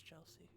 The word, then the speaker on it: Chelsea: Is it Kelsey or Chelsea? Chelsea? Chelsea. I pronounce things weird, though. It's Chelsea.